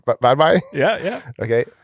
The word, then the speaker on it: Varberg: Varberg? Yeah, yeah. Okay. Varberg, it came up as like Surf City, Sweden.